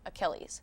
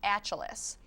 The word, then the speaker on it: Achilles: and what it said was Greek mythological hero Achilles yeah but what he said was Greek mythological hero achelis so because the pronunciation was so far off the woman who